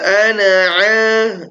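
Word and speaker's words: أنا: ana nanya pendek ya jadi ana itu dalam bahasa Arab tidak ada yang dibaca Baca panjang. Meskipun tulisannya nampak panjang tapi enggak ada ana. Itu enggak ada. Yang penting bacanya pendek ya.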